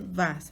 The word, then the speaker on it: vas: Dice vas, ¿verdad? Se escribe vas, se pronuncia va.